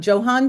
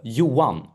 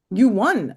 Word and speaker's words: Johan: So, Edmond plays uh, Johan Strand or Johan. I said Johan. Uh it's whatever you like but the Swedish pronunciation is uh Yuwan Yuan.